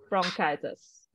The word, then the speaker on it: bronchitis: right so uh so the CH in most medical term is usually pronounced as a k so bronchio lightest from